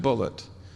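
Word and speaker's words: Bulliet: new york at columbia he spells his name b-u-l-l-i-e-t and he pronounced it bullet he corrected me he said no my name is not bougie it's bullet and he's done a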